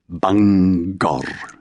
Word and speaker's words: Bangor: of a straightforward place name like banger separating the syllables but somehow leaving the G on both sides of the chasm rolling the final R. Bangor.